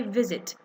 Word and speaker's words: visit: E in okay but when I say visit I say V zit okay I'm not saying zit okay so there's too much difference between saying v z or you say vit you don't say vit you know you just say visit okay so zit is